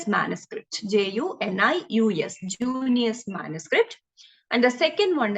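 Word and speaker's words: Junius: get all these four names first is like junior manuscript j-u-n-i-u-s junior manuscript and the second one is like exceeder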